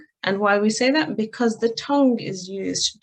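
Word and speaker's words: ث: So I'm going to quickly pronounce this letter for you, this one that's just highlighted, the Tha. And this is the letter we're looking at to pronounce it correctly.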